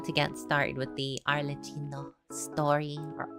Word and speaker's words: Arlecchino: get started with the arino story or arino I think actually it's pronounced I've been informed by an Italian it is pronounced arino uh just more of an Italian accent not my crappy ass